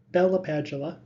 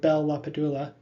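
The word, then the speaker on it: LaPadula: both subjects and objects badula or badula both seem to be acceptable pronunciations in Industry so pick the one you favor was one of the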